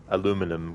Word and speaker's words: aluminium: fod um in Canada it's spelled aluminium but it is pronounced aluminum go figure LOL but you